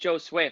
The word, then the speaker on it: Josue: And real quick, we have to say it is pronounced Josue for everyone in the comments who's saying we're pronouncing it wrong.